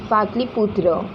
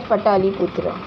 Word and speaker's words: Pataliputra: Seventh one, Emperor Ashoka convinced the Third Religious Council on Buddhism at Dash, Patliputra. You can say it's Patliputra, or you can break the words and say as Pataliputra.